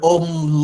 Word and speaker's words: ohm: Or you call it, the symbol is, we call it omega, but you must write it ohm. You must spell or pronounce it as ohm, O-H-M.